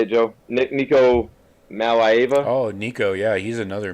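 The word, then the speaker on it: Nico Iamaleava: Nico Malaiva.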